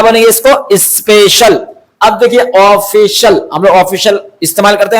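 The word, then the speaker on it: official: अब देखिए ऑफिशियल हम लोग ऑफिशियल इस्तेमाल करते हैं ना बहुत ज्यादा इस्तेमाल करते हैं ये ऑफिशियल यानी कि सरकारी अधिकारी सरकारी होता है ना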